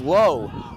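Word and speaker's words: Lowe: low you know the only problem with Low's name it's spelled lwe and if you recognize the Rays you know there's a low and a la so the question is which one is he pronounced is it low or La I'm choosing low for this one dancing number five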